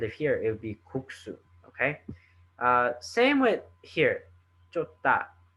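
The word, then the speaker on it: 국수: The K at the end is going to be the factor into pronouncing this word cook. So you should feel that that K sound at the end, kuksu.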